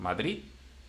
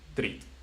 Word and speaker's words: Madrid: Okay, so that's why, for example, Madrid, it ends with D. So the last syllable is a strong one. Mm-hmm. Madrid.